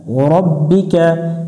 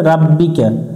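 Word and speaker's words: رَبِّكَ: রব জবর রব বাজের বি কাফ জবর কা রব্বিকা এখানে অনেকজন ভুল করে রাব্বিকা রব্বিকা ওয়াসিন জবর ওয়াস তাগইন জবর তাগ ওয়াস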